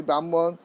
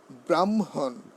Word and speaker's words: ব্রাহ্মণ: ব্রাহ্মণ দীক্ষা নিছি, আমি ব্রাহ্মণ, চানি কানি চপা পানি ব্রহ্ম বলে ফেলি। হ্যাঁ এই উচ্চারণগুলি কীভাবে হবে দেখুন। ব্রাহ্মণ, ব্রাহ্মণ, ব্রাহ্মণ হবে, ব্রাহ্মণ নট।